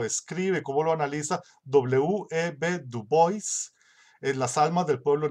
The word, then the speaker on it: Du Bois: O sea, que muere en el 63, Du Bois, y siguió siendo una figura importante. Por cierto, se pronuncia así Du Bois, no Dubois, así lo pronuncian los gringos, Du Bois.